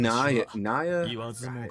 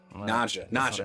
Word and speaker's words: Naja: I mean, but Zeta and Naya, I literally just said her name like 30 minutes ago. Naja, that's how you say it.